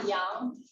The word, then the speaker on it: yang: So, for example, in the idea of qi, there is when you have yin and you have yang. That's the pronunciation.